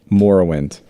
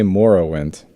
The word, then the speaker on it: Morrowind: Fantasy for me, but Morrowind. Morrowind? gang. What you saying? This Morrowind? Yeah. Like bone marrow? Yeah. You mean marrow? No, Morrow? Morrow. Like tomorrow. Is it Morrowind? I say Morrowind.